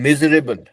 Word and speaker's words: miserable: उसका प्रोनाउंसिएशन में मिस नहीं होके मिज हो जाता है, वो मिजरेबल।